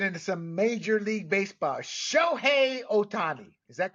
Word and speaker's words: Shohei Ohtani: going to get into some major league baseball sh Otani is that correct there Mr aparicio that is